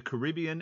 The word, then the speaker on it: Caribbean: split uh on this question we're between the caribbean and the mediterranean uh and just uh for your information it's pronounced caribbean not caribbean uh caribbean and mediterranean